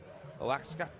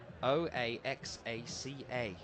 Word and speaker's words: Oaxaca: She's from Oaxaca in Mexico. I believe that's how you say it. It's a crazy spelt place where she's from. O-A-X-A-C-A.